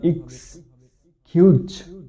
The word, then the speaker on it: excuse: সুতরাং এখানে এই শব্দটির সঠিক উচ্চারণ হবে এক্সকিউজ।